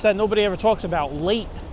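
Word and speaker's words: Laight: nobody ever talks about late Street not l a t e but l a i g HT I guess that's how you pronounce it late a light who knows we are making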